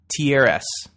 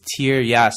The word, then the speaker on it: Tieryas: This is written, incidentally, by an author by the name of Peter Tiaras. Although I think he pronounces it differently. It's Tieras.